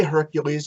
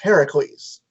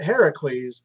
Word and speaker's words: Heracles: like they don't say hercules because his name is technically supposed to be pronounced heracles um and when the first time they say it heracles zeus says yes because